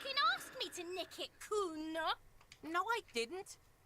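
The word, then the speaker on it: Cuno: me to Nick it Kuno no I didn't it's Kuno say it right say it like it's said a pretty lame oron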